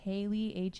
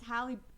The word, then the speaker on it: Halle: I'm probably gonna pronounce her name wrong, but Haley Halle Bailey. Haley Bailey? Halle Bailey? I might be pronouncing it wrong. No, it's Halle. It's Halle Berry.